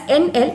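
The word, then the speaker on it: endl: see out hello world and then NL okay we pronounce it as NL and there is a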